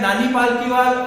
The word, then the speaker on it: नानी पालकीवाला: कई जगह नाना पालकीवाल लिखा मिलता है, कई जगह नानी पालकीवाल या फिर नाना पालकीवाला या नानी पालकीवाला, इस तरह के नाम सामने आते हैं। कई अलग अलग बुकों में अलग अलग तरह से इनका नाम प्रोनाउंस किया जाता है। हम किसी भी प्रकार से इनका नाम ले सकते हैं। नानी पालकीवाल सार्वजनिक तौर पर इनका नाम लिया जाता है।